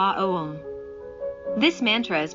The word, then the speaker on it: Aum: This mantra is pronounced properly opening the mouth with the vowel A, rounding it off with the vowel O, and closing it with the letter M, like this Aum.